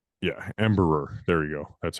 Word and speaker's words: Embraer: Yeah, Embraer. There you go. That's how you pronounce it.